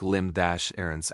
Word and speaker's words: limerence: Limrance pronounced asterisk limb- errance asterisk is an intense involuntary mental state.